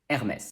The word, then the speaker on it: Hermès: this is very important in french the h is always silent unless it's part of